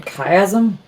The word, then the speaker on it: chiasm: out of chiasmus as something that i mean chiasm sure i've only ever read it i've never